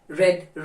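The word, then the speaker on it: read: रेड की spelling और रेड की स्पेलिंग एक ही है आर ई ए डी लेकिन इसे हम प्रोनंसिएशन में डिफर कर देते हैं रीड फर्स्ट फॉर्म है रेड सेकंड फॉर्म है और रेड ही थर्ड फॉर्म है यह आपको फॉर्म्स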